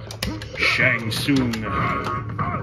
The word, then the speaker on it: Shang Tsung: Shang Tsung.